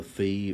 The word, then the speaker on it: phi: amount it's rotated is the fee or the phi however you want to pronounce it if there is any